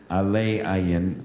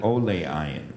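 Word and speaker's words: עולי עין: rabbi about who said do not pronounce the words aller ayan but rather Olay ayan rising over the eye Rabbi Yosef Yossi bars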